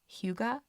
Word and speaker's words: hygge: So there is this term, I'm sure you've heard it or seen it like written on things, where I believe it's pronounced hygge, Hygge, hygge.